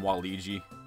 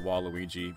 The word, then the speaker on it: Waluigi: Wally G while Louie I always call him Wally G but I always I think it's pronounced waluigi probably gonna go to the